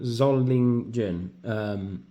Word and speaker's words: Solingen: I keep pronouncing it wrong. Solingen.